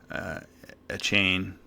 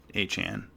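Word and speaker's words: Achane: You got Tua throwing to Hill and Waddle and a chain. That's how you say it, right? A chain? I think it's A-chain. Oh, A-chan.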